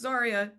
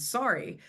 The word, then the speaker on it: Zaria: my name, and then they always think my name sounds like the word sorry. So when I say, "Oh, my name is Sorry," or it's actually Zaria, they're like, "Oh no, you're fine.